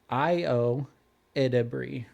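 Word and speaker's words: Ayo Edebiri: It's Io Edebri. Io Edebri. Okay. Yeah. And I had to write it down phonetically.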